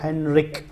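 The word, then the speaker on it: Henrik: और अगर हम हेनरिक डैम को प्रोनाउंस करते हैं तो इसके में के की एक बड़ी वाजी आवाज निकलती है, हेनरिक, और यहाँ पे के का अल्फ़ाबेट भी हमें नज़र आता है।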